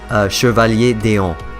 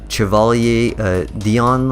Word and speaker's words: Chevalier d'Eon: So we pronounce it Chevalier d'Eon. So that's how we say it. I don't know, in English you guys might call her like Chevalier Dion or something like that, or Dion or something.